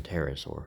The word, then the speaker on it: pterosaur: So, yeah, I was talking and suddenly saying I had to sell you on the P board, but the P is silent in pterosaur or pterodactyl.